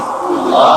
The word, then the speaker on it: আল্লাহ: হচ্ছে আল্লাহ মুখটা একটু গোল হয়ে যাবে বলেন আল্লাহ